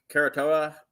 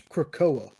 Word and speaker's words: Krakoa: It takes place right directly after the fall of Karatoa. Did I pronounce that right, Jay? Karatoa? I think it's Krakoa.